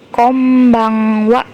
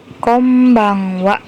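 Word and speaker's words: こんばんは: cecak kosakata ini ya jadi tulisannya konbanwa Tapi bacanya Kombang Wa Kombang Wa yang artinya selamat malam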